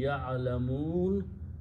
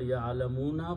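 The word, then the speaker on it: يَعْلَمُونَ: and you pronounce liqawmi ya'alamun. Actually, it is the word ya'alamuna, but when you stop, you pronounce ya'alamun.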